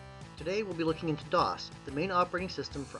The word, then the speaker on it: DOS: a bit and please note that it is pronounced dos not dos sorry spanish speakers it's not ms2 for anyone